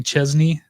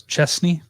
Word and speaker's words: Chesney: A lot of people say Kenny Chesney, like with a Z, but it's Chesney.